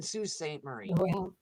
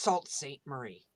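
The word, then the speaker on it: Sault Ste. Marie: excuse me i said i live in sault ste marie it's not pronounced salt saint marie hey jack how are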